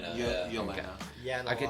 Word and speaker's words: Yelena: Yelena.